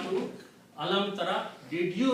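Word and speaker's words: أَلَمْ تَرَ: In the pronunciation they drop out just to make it easy. So this word will become alam tara.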